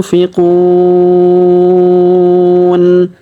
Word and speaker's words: ينفقون: Razaqnahum yunfiqun. Perhatikan huruf nun sukun bertemu fi, maka kita dengungkan dan kita samarkan cara bacanya. Yunfiqun.